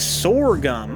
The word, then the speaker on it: sorghum: pronounced like Sor gum okay Sor gum I feel like okay